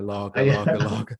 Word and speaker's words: Lage: Former Benfica boss Bruno Lage. We had this before. Oh, Lage. I'd say Lage or Lage. But for the fans, it'll be Lager, because they want to sing that Born Slippy song, Lager.